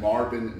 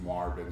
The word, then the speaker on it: Marbin: but band sometimes is Marvin music van sometimes it's Marvin and XM a RBI n B as in boy rhymes with Marvin Google it's there and